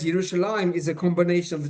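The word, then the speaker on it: ירושלים: As I mentioned, the Hebrew word Yerushalayim is written in the Bible without a yud before the final mem, but it is pronounced as if the yud was there.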